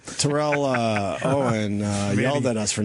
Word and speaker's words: Terrell: Terrell Owen yelled at us for not pronouncing his name properly. Well, it's Terrell. Who did? Terrell.